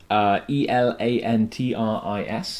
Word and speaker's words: Elantris: Yes, although I have heard Sanderson himself pronounce it Elantris. Elantris. I don't know if that's just an American accent or he meant to put a U in there somewhere. But yeah, okay.